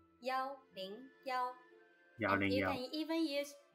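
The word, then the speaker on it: 幺: well for example the past number 101 is pronounced yo Bing yo yawning even use yo instead of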